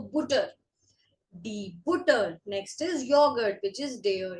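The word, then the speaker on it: Joghurt: Next is yogurt, which is Der Yogurt. Der Yogurt. J is pronounced as Y in German. This is yogurt.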